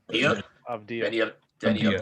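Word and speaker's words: Avdija: Denny, I'm not even gonna try and pronounce his last name. Dia? Avdia. Denny Avdia. Avdia.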